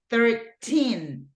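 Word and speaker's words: thirteen: It's 13. The stress goes in the second syllable, okay? 13.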